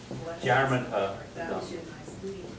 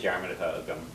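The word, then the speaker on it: dearmad: Jarman, yeah, D-E-A-R-M-A-D. M-A-D, Okay. It's not German.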